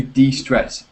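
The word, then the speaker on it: de-stress: distress okay be careful be careful because there's two words there's distress and there's d-stress and they both have different meanings yeah and be careful with the pronunciation that's why I me I'll mention it now Hugo do you know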